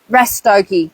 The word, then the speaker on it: Rastoke: Rastoki. I thought, so it rhymes with hokey pokey.